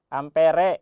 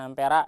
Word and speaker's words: ampere: Ampere ya, bukan ampera ya. Itu mah warung ya. Ampere re amper dibacanya.